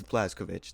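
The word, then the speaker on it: Blazkowicz: So I looked at the Wolfenstein wiki and it is pronounced Błaszkowicz. That's just how they say it in the game because that's what they just decided, I guess. But the Polish pronunciation is Błaszkowicz. That's how you're supposed to say it, I believe.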